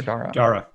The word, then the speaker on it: Dara: Is it Dara or Dara? Dara. Okay. Dara.